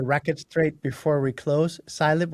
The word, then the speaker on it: cylib: Cilib or Caleb? I'm sorry, Caramel. It's CIB.